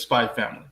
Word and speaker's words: Spy x Family: you have crunchyroll uh anime called spy x family or it's just spy family but it's spelled spike's family um i think a